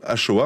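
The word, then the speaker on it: Axoa: La Shoah, qui donc se prononce Shoah, hein, vraiment comme je viens de vous le dire, hein, littéralement.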